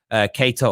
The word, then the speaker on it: Keita: Final super chat says Liverpool should sell Naby Keita or Keita. I've heard it pronounced both ways.